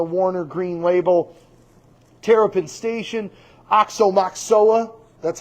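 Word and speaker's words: Aoxomoxoa: Oxomoxoa. That's how you say it. Oxomoxoa.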